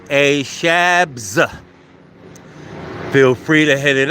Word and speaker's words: ASHABZ: So ASHABZ. Pronounced A Shabs.